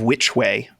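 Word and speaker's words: Wytch Way: on your way back to the town of which way uh which is spelled w-y-t-c-h way it's a wit which way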